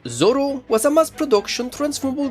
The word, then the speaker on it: Zolo: Codenamed ZM-S08G, the Zolo, technically pronounced Zoro, was a mass production